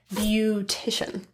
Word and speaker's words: beautician: fully rounded ooh ooh the a is pronounced as Ooh in one instance and other uses of the base word beauty so words like beautiful and beautician let's practice she's a